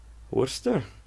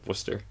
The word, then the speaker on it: Worcester: ] hammer Haverhill cuz in Massachusetts you don't have to pronounce out letters no just start saying like is ah was to be it's an Irish thing you just slur Worcester the slur becomes the actual name yeah because no one